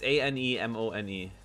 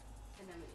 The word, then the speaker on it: anemone: It's A-N-E-M-O-N-E. An enemy. An enemy? And then... Anemone. Anemone? Yeah. Anemone.